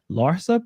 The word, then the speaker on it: Larsa: Michael Jordan's son, Marcus Jordan, reportedly seeing Scottie Pippen's ex-wife, Larsa Pippen. That's how you pronounce hmm her.